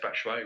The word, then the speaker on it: Batshuayi: You pronounced Batshuayi wrong. Oh, I'm sorry, Batshuayi.